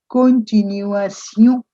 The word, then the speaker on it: continuation: It's time perhaps I made you notice that all these words ending in a tion, which we normally pronounce in English as shun, whether it's nation or continuation, they become sion in French.